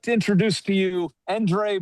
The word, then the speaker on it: Endre: How many people call you Andre instead of Endre? Well, probably about 60% call me Andre, and then everybody else knows how to say it, which is Endre. But it's a Hungarian name, and it starts with an E.